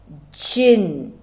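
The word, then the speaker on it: djinn: at that jin d g i double n pronounced jin and variously spelled as g e n i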